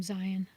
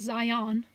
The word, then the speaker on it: Zion: not too far from zion not zion it's just pronounced like a lion zion so yeah i there's